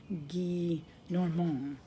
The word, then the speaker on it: Gillenormand: Guy Normand, Gillenormand. So I think it's pronounced Monsieur Guy Normand.